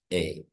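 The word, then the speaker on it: εἰ: So remember I have epsilon and iota. So that becomes a a. So I'm just pronouncing the epsilon a. Okay. So I'm not saying a a I'm not saying a I just say a. So you pronounce as a single letter.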